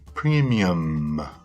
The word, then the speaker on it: premium: Olha o M final, ó. Premium. Estou exagerando para você perceber como é a pronúncia ideal.